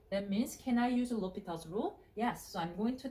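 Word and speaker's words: L'Hôpital: I used to call Hospital's rule. There's no S, Lo, and the H is silent, so L'Hopital's rule.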